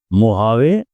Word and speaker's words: Mojave: Second is मोहावे, ये यूएसए में है। स्पेलिंग इसके MOHAV भी हो सकता है, MOJAVE भी हो सकता है।